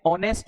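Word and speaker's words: honest: ये बड़ा बेसिक है एन आर होता है इसे नेस्ट नहीं बोलते एच को साइलेंट करते हैं तो एन ऑनेस्ट होता है तो जिनका एच साइलेंट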